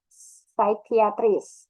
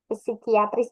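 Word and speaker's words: psychiatrist: Nah, psychiatris, bukan psikiatris, bukan gitu ya.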